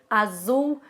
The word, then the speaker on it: azul: que acontece você vê dá uma vontade muito grande de falar zapato zumo azul né mas assim não é como é pronunciado no espanhol então é tudo S Então vamos ver agora